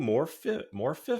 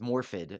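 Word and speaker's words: Morfydd: Morphiff? You know what? I spelled it wrong. It's Morphid. It's supposed to be Morphid.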